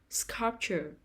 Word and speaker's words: sculpture: first syllable rural rural sculpture sculpture the stress is on the first syllable sculpture sculpture support support the